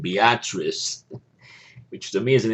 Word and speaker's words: Beatrice: from this place that I would pronounce Beatrice but they they pronounce it Beatrice which to me is